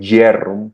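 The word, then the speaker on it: Bjerrum: de Jerrum, que se escribe b j e r u m y se pronuncia jerrum, que son los dos característicos asociados a glaucom.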